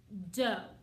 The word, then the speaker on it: do: to learn what it's called we call it dough and our hand sign for dough is fist